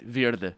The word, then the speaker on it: verde: actually word would be the english english way of pronouncing it verde is how you pronounce it in portuguese it's the same word